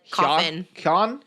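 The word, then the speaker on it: Keoghan: person Barry kogan I've you probably don't even pronounce the G it's probably like cofin I love the way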